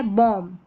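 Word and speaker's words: bomb: जैसे लैं थम कॉम क्लाइम और ये है बॉम्ब। क्या है? बॉम। बी यहां पर साइलेंट है।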